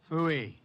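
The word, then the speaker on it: Pfui: Phooey. It can be spelled in several ways. I spell it P-F-U-I. Phooey.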